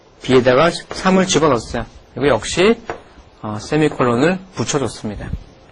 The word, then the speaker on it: 세미콜론: 어떻게 읽냐면 세미콜론이라고 읽어요. 세미콜론. 네, 세미콜론 이렇게 있습니다.